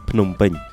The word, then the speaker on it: Phnom Penh: Today's trip starts at Phnom Penh International Airport, or how the local pronounce it, Phnom Penh.